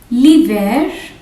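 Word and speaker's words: l'hiver: val here l apostrophe liver in here we will not pronounce the h li ver e lapos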